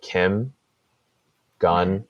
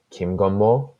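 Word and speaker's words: 김건모: like if you just pronounce it off the pronunciation it's like Kim gone like so Kim which is like a pretty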